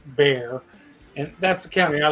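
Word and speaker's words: Bexar: deer in Bear County it's b-e-x-a-r but Texas pronounces bare and that's the county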